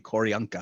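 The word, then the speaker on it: Q'orianka: It is Q''ORIANKA, Koryanka. Oh, Koryanka Kilker, yeah.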